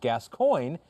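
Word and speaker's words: Gascoigne: podcast from the uk my surname is pronounced gas coin so you don't butcher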